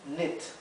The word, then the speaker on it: knit: Entonces tenemos neat y knit. Knit, neat. Y tenemos think y think. Think con la TH que se pronuncia significa pensar, pensar.